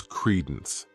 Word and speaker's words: credence: The next noun is credence. This word has 2 syllables, and the stress is on that first syllable. Credence.